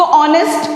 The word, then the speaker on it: honest: For example the word start from H, हम उसको ऑनेस्ट pronounce करते हैं, HONEST. सो ऑनेस्ट क्या साउंड कर रहा है, ओ साउंड कर रहा है.